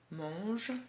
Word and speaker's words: mange: Mange, donc comme dans éléphant en fait, voilà. L'éléphant il mange, donc il a le même AN. Mange avec le G et pas le J de l'herbe.